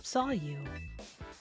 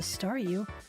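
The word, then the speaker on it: Staryu: was still just a stareu, I can never pronounce its name right. It always ended up sounding like saw you.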